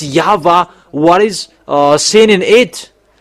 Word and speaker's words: Yahweh: Is it Yahwa or Yahoo or Yava?